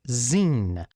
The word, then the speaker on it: zine: Because this God forsaken language known as English pronounces this word as Zine, and I think that is absolutely ridiculous, and whoever made that decision should go right to jail.